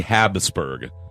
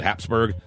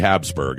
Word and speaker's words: Habsburg: never heard of the Habsburg curse mrs. Matt French the House of Habsburg it's actually Habsburg but for some reason America we'd like to put a P in there called Habsburg it's actually Habsburg what America puts their